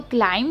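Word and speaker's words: climb: पढ़ रहे हैं और बी यहाँ पर साइलेंट होता है, यानी कि एम के बाद कभी भी वी आता है तो वी को नहीं पढ़ा जाता, ठीक है। तो क्लाइम यानी कि चढ़ना, ठीक है।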